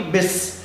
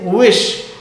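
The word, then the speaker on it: wish: बिस नहीं कहना है, ठीक है? तो डब्ल्यू से स्टार्ट वर्ड्स जो होते हैं उनको हम ओ लिप्स के शेप बनाकर पीछे की तरफ छोड़ते हैं, तो सही प्रोनाउंसिएशन होता है.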